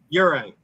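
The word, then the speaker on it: Juraj: get the Slifakovski, but it's ur like Yuri.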